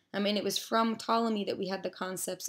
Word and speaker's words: Ptolemy: continue those discussing Claudius Ptolemy though I just pronounced his name with as if the P was silent so Claudius Ptolemy a very famous geographer